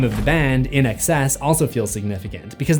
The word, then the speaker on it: INXS: The name of the band, In Excess, also feels significant because the pronunciation is a phonetic play on the words in excess.